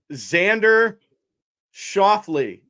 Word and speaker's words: Xander Schauffele: Xander Schauffele.